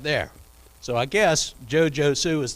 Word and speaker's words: Josue: josue he said well how do you spell that he said j-o-s-u-e yeah joe sue that's what i said so just like it